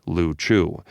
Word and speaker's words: Liu Chiu: The group of islands was called the Liu Chiu, the Chinese word usually pronounced Lu Chu, meaning either pendant ball or bubbles floating on water.